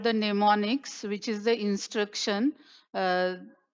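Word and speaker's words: mnemonics: this is called the neonics which is the instruction uh the letters which are used for the instruction in Assembly Language m is silent in this case and the these are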